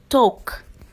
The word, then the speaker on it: talk: Number 1, talk, talk. The L silent.